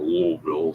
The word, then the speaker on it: Louisville: this label uh it's from Louisville Kentucky or louville some people pronounce it right and yeah this is